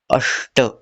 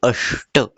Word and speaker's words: अष्ट: अष्ट। अब देखो, यहाँ भी श जो है वो प जैसा वाला श है, तो हम कैसे प्रोनाउंस करेंगे? अष्ट।